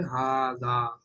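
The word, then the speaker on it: هذا: বাট ইট is written without the first Alif. First আলিফকে বাদ দিয়ে, যেরকম এখানে নাই, ফার্স্ট আলিফকে বাদ দিয়ে এভাবে লেখা হয়, বাট প্রোনাউন্স হবে হাদা।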